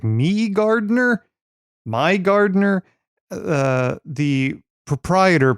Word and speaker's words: MIgardener: didn't know how to pronounce I was like me Garder my Gardener uh the proprietor pronounces it Mi Gardener it turns out uh this is a PDF